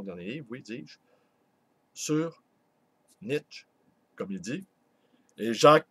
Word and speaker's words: Nietzsche: Pour ma part, je dis Nietzsche. Voilà. Et avec tous les professeurs germanophiles et germanophones qui fréquentent ma librairie, eh bien, je m'en voudrais de ne pas prononcer le mot comme eux le font.